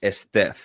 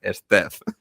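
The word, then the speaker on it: Steph: no tiene sentido Pero cuando es el diminutivo ahí sí que se pronuncia Claro pues y y mucha gente en España también Claro porque no porque si no lo has escuchado en Estados Unidos repetidamente lo lees y claro esto se pronunciará diferente si está escrito diferente no se pronunciará igual pues se pronuncia igual a no ser que sea el diminutivo en cuyo caso es Step Es que a mí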